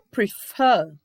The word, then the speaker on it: prefer: O prefer, também, a sílaba mais forte dele é o F. Ouça um som da consoante, da vogal da consoante, né? Prefer.